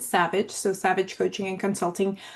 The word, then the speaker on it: SAVVJ: So if you see that name, I pronounce it Savage.